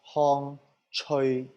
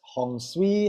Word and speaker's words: Hong Tsui: So it's pronounced Hong Tsui in Cantonese. But I readily accept Hong Tsui, Hong Tsui. I readily accept that because I understand that